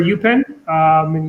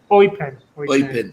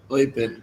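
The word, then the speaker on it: Eupen: Plays for UPenn in Belgium. Oipen. Sorry. So you pronounce it T? Yeah. Oipen.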